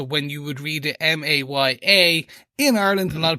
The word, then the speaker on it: Maya: episodes but H you are right Kingpin does pronounce it correctly May Maya Maya so that's how we should be pronouncing it Maya so we'll try our best yes exactly thanks